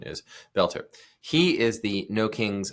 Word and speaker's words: Boelter: Some will say Bolter, but it's the correct pronunciation is Belter.